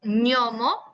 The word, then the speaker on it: gnomo: Pero por ejemplo nosotros, lo que es la ñ, que también es un sonido palatal para ustedes en el español, lo tenemos con la combinación de la gn, ñomo, ñomo, ¿ok?